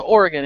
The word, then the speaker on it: Oregon: There is no E in Oregon, therefore it's Yeah, not but Oregon. it's still but there's still it's still G-O-N, and when there's no extra vowel, it makes the hard O sound.